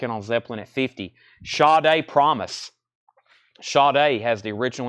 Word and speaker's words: Sade: Sade, yes, I got corrected about that years ago, which it's spelled just like Sade, and if you didn't know it was pronounced Sade, you would have no idea. That's why I was always saying Sade.